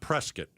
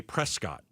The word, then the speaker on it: Prescott: Not prescuit. Prescuit. Prescuit as in biscuit. That's the easiest way to remember. Prescuit as in biscuit. It looks like Prescott. It does look It's spelled like Prescott.